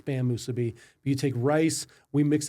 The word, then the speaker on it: musubi: So if I've been pronouncing it Masubis up to this point in time in my life, You're a little off. Musubi.